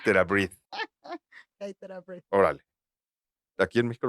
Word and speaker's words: TheraBreath: Sí, porque por la pronunciación que leí ahí es TheraBreath.